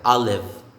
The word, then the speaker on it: Olive: therese this one olive a silent e the last letter is silent i'll live i'll live next is charlotte not